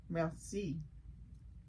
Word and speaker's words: merci: Merci. Observant, notice things. Overjoyed, very happy. Portrait, a painting of a person. Spectacular, great. Still life, a painting of things such as flowers or fruit. Merci.